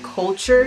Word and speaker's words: CLTR: This Testittuesday is brought to you by Culture Skincare. Culture is spelled CLTR Skincare.